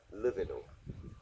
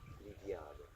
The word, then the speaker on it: Livianu: Americans pronounce it Livianu. But the original pronunciation is Italian, like in Romania, Livianu. Livianu, a little more musical.